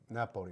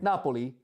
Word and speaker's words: Napoli: the locals say because in Italian language right it's Venice is Venetsia Venetsia and H Naples is Napoli Napoli and Rome is Roma and also and also the